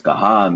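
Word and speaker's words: कहाँ: here kaha means said whereas kah in the nose not with a N in the nose the nose vibrates there's no end sound no touching of the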